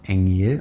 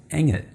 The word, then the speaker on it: Engel: It's not Engel or Lachen, we say Engel and Lachen.